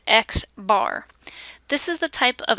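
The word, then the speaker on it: x̄: in the data set the mean of the sample is written an X with a line on top of it and pronounced X bar this is the type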